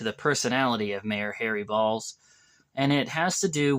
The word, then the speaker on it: Baals: he reported the story he instead pronounced the last name Bells uh well a few minutes later A call came into the radio station trying to get a hold of Bob Chase and when he was finally able to get a hold of him Bob Chase heard the voice of the mayor say son this is your mayor and I pronounce my name balls and so by this